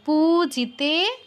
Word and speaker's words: পূজিতে: সদভা পতি সদ্ভাব পূজিতে পু দীর্ঘ তে দীর্ঘ পূজিতে পরমেশ্বরী পরমেশ্বরী ইন্দ্রানীপতি সদভা